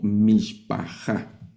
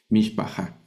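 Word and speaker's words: mishpachah: Observen que aquí no puse no puse vocal porque en esta palabra esta vocal no se lee. Se escribe cuando se escribe en hebreo, pero no se lee. Mishpajá.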